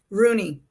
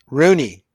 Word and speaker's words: Rugne: Rooney. Rooney. Rooney. Okay, the G is silent.